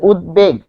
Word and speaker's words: উদ্বেগ: ফলে উদ্বেগ। আমরা এখানে লিখি উদ উদবেগ। এটা হচ্ছে উচ্চারণ।